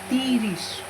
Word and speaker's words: ত্রিশ: So what it will pronounce? Tirish. So this is tirish.